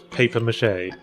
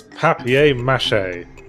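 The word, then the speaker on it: papier-mâché: like some people in England referred which is paper mache yeah paper mache paper mache Vings it's papier-mache I'll just paper mash paper Matt yeah let's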